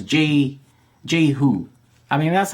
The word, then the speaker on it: Jehu: I mean, that's how I pronounce it. There's debate. It's a Jewish name, but it's like an old Jewish name, so I think even Jews debate as to how to pronounce it. Some pronounce it Yehu, some pronounce it Yehu. I just grew up pronouncing it Jehu, so that's how I pronounce it.